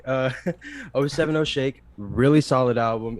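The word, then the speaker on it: 070 Shake: oh you owe seven how do you say it again oh seven o'shake yeah i always say oh seventy shake uh oh seven oh shake really solid album it's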